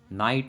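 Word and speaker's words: night: रोंग में डब्लू की साउंड नहीं आ रही तो डब्लू हमारा साइलेंट है। नाइट में जी की साउंड नहीं आ रही तो जी हमारा साइलेंट है।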